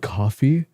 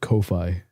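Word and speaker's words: Ko-fi: Is it called coffee? I swear I've always pronounced it Kofi, streaming equipment, and even editing.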